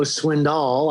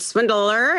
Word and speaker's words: Swindoll: colleen they certainly know swindoll i guess is the right pronunciation right colleen it is i noticed you kind of said swindler and i gotta remember you know the accent on the on the second syllable there so that's all